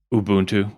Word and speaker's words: Ubuntu: It's and it's not even pronouncing that Ubuntu.